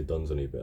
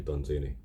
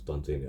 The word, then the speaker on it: Dunsany: any of those I never know how to pronounce it it's uh I used to say duns on eBay I think it's actually done Genie I I double checked and yeah it's done daily I think um so I decided to focus